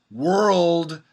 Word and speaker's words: world: So the first syllable would be W-E-R-E. Were. The next syllable would be R-schwa-L. Roll. And it's not the third syllable, but then you need the D, the final D sound.